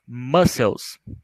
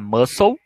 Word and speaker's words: mussels: Mussels, repetindo, mussels, mexilhões, tá? Essa pronúncia é importante, porque se você por um acaso falar muscle, aí alguém está te entendendo falar músculo, tá?